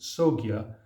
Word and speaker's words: Sangha: Sangha in India is pronounced Sogya, and in China is translated as harmonious community.